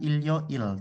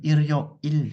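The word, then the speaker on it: 일요일: ada beberapa Bim ya Bacanya jangan Ilo Il tapi Iro Il ya huruf rilnya itu hidup lagi Iro Il Waro Il ya Jadi huruf rnya seolah-olah ada di vokal yo tah grionah di bab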